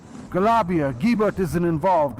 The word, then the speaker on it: Galibier: You don't pronounce it as it's written.